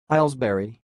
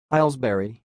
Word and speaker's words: Ailesbury: the word you see it sounds like Isles berry Isles Barry I will repeat it more slower very Isles Barry that's all thanks for